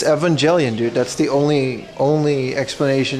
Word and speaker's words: Evangelion: Japanese pronunciation for Evangelion. It's Evangelion, dude.